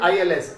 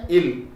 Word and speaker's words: ils: Both of them mixed together will be again ILS, il form. Okay, il. You should not pronounce it as ils, okay, it is il.